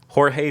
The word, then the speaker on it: Jorge: is how you would pronounce that. Does it have a tilde? Tomas? No tilde. Oh. Just Jorge Tomas.